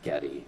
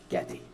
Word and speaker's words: Getty: That's how you say it, Getty. It's not Getty, it's Getty.